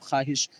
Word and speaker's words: خواہش: واو مدولہ جو لکھا جائے لیکن پڑھا نہ جائے جیسے خواب خواہش.